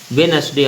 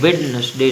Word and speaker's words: Wednesday: तो WEDNESDAY, तो इसमें कौन सा लेटर है जो साइलेंट है, डी है। वेडनेसडे अपन पढ़ते हैं, वेडनेसडे नहीं पढ़ते, ओके।